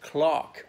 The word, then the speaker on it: clerk: now Clee are okay but in British that's pronounced Clark we never called the